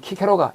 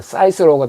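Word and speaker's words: Cicero: 그다음에 고대 로마의 정치인 키케로가 영어 발음으로는 사이스로가 됩니다.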